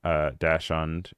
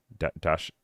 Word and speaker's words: Dachshund: So he's talking about Dachshund, or how do you, I forget how do you say it? Dachshund?